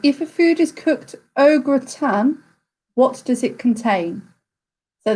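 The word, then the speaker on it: au gratin: a food is cooked ogre tan what does it contain so that is felt a u g r a t i n o gratin pronunciation is probably a little bit off there but question two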